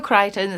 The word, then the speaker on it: Crichton: Michael Crichton, State of Fear.